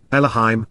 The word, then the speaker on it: Elohim: is the reason its contracted plural form is pronounced Elohim resembles a tent peg this is important because